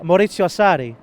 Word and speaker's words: Maurizio Sarri: No, pronounce it again. Maurizio Sarri.